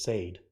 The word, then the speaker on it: Sade: I know it says Sade. She says it's pronounced Sade.